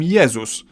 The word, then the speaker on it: Jezus: In Polish we call him Jezus, but if we were to pronounce his name the English way, we'd write it down as Jesus. And lastly, dzi.